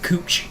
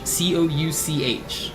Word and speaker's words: Couch: There's a there's a popular street in Portland called Cooch Street. And if you're a local to Portland, you know about Cooch Street because everyone calls it Cooch Street. Um, but it's actually it's spelled Couch. C O U C H. So, like out oftowners when they visit Portland, they call it Couch Street because it looks like it should say couch, but locals call it